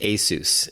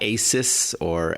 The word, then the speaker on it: ASUS: And yes, it is pronounced ASUS, and this is not Asus or Asos or anything like that.